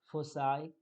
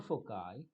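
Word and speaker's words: foci: shape Focus then the plural form of focus is fosi or fukai fosi or fukai both way you can pronunciate this word now other words semi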